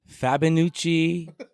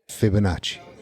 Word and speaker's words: Fibonacci: Since you're here, what is the correct pronunciation? Fabinucci, Fabinucci. How do you say it? Fibonacci.